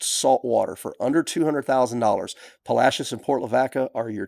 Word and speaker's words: Palacios: Well, because we're from Texas and Palashius is pronounced Palashius, not Palacios.